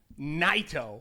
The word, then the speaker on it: Naito: got Jon Moxley against NATO NATO that's how it's pronounced I'm glad that you told me that because I was gonna say nito nito is NATO all right all right